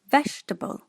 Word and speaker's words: vegetable: Malaysian will put this word as 4-syllable. Vegetable. Vegetable. The correct pronunciation is vegetable.